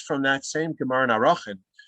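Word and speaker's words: Arakhin: And then the other very interesting passage is from that same Gemara in Arachin. I should say Erchin is the way most people pronounce it. I apologize for my hyper-correct pronunciation.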